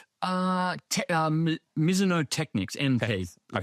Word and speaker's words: Mizuno: Miso. That's how they say it over here. Miso three times. Well, I did get it right the first three times. Miso, it's not Mizo.